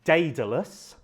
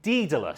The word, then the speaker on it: Daedalus: and Greek, and I had until recently been pronouncing the title of his lecture and book Daedalus, and I now have it on good authority that the correct pronunciation is actually Daedalus.